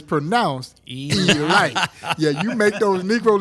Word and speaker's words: Elite Giants: But it's pronounced Elite.